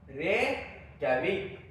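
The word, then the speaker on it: Reykjavík: Iceland है इसकी राजधानी रे कैविक रे कैविक जैविक मत पढ़ना जे साइलेंट होता है रे कैविक रेविक किसकी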